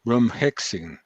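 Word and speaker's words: Bromhexine: For mild cases, we use ivermectin and aspirin, and we are adding now bromhexin. Is it well pronounced?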